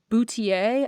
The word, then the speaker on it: Boutilier: I am going to recommend this week Goldie Boutier, I think is how you say the last part. It's spelled Boutilier.